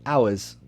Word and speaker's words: ours: If you use it as like a possessive, right? Ours. Then it's exactly the same. Also, if I say it slowly, so yeah, it could be in a sentence, but if I say it slowly, then I can also pronounce it the same way.